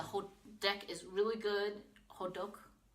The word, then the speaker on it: hotteok: deck is really good hodok sounds like Hodor that's how I remember it like Hodor ho hodok